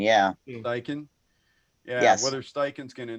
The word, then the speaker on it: Steichen: I don't even want to try and pronounce his name, Paul. It sounded like you had it right. Steichen? Shane Steichen, yeah. Steichen.